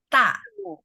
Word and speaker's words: 大: 大 Dia nggak pakai H, jadi ta. 大 Iya, betul. Ta, nada 4 ya.